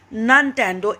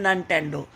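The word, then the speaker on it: Nintendo: He played hockey and basketball and ननटेंडो इंस्टेड. वो इसके बजाय, इंस्टेड मतलब इसके बजाय हॉकी बास्केटबॉल खेलता था. और वीडियो गेम होता है ननटेंडो. इसका प्रोनाउंसिएशन देखिए, निनटेंडो नहीं है, ननटेंडो.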